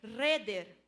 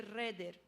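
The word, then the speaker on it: חדר: Ela em hebraico se lê reder.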